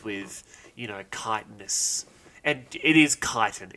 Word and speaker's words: chitin: It's chitin. People who say chitin, you need to be flogged with like they really hoses. Chit you off, do they? They really give me the chits. Yeah. I now pronounce it chitin.